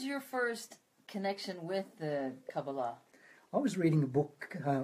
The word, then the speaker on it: Kabbalah: Well, the most Hebrew words that are accented on the final syllable, but most English words are not. It's just a variation in pronunciation.